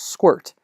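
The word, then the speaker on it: sqrt: the first one is square root although it's pronounced squirt so if you say capital m math dot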